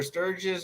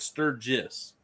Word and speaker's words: Sturgis: have you ever done searches or Sturges I don't know if I pronounced that right yeah like a sturgeon fish but Sturgis right so the this year